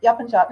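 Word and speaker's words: Yapıncak: Is that always the C is always a J? Is that in Turkish language? Yes. The C is always a J sound, unless the C has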